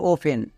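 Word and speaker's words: often: উচ্চারণ এখানে হবে না একই রকম ভাবে অবটেন না একে সবাই অবটেন বলে বাট এর উচ্চারণ হবে অফেন এবং থার্ড ভুল করি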